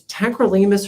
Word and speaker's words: tacrolimus: to look up it's it's tacrolimus or tacus I forget how you pronounce it t a c r o l i m u s I use that and